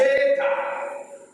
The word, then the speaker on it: eta: And eta sounds as A as you pronounce the A in eight.